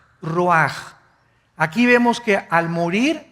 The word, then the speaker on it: ruach: cosa el ruaj que se escribe r u a c h ruach en el hebreo y se pronuncia igual ruaj Aquí vemos que al